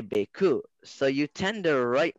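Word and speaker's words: beaucoup: And then in French, sorry in advance, Prisha, you write bécoup and you say bécoup.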